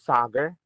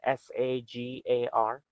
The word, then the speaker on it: Sagar: again what was your name my name is Sagar it's spelled s-a-g-a-r so Sagar are we talking about are you